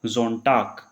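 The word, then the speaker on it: Sonntag: या फिर जी हमारा कहीं लास्ट में आया हुआ है, जैसे इसके लास्ट में आया हुआ है, इसके लास्ट में आया हुआ है, तो उसको हम क्या पढ़ेंगे कै। तो क्या बन जाएगा जोनटाक, मोन्टाक।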